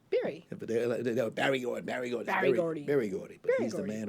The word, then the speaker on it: Berry Gordy: name is not big Barry his name is Barry like a berry berry berry or Berry Gordy Berry Gordy he's the